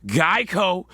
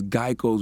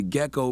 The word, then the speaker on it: Geico: and they chose the gecko because Geico had often been mispronounced as gecko.